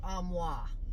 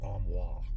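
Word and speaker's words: armoire: question of the day do you say armoir or amoa I don't say either what do you say I do say armoir armoir sorry armir did you say it like an Oklahoma armoir or do you say it like a French person frisa why do you ask that cuz it just running through my head who says omwa I think that's the bougie way to say it amwa who have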